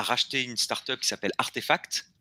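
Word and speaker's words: RTFKT: une startup qui s'appelle artefact qui s'écrit rtfk mais ça se prononce artefact et eux sont les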